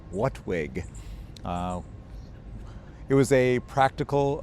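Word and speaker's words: WHATWG: application technologies working group which formed an acronym WHWG pronounced whatwig.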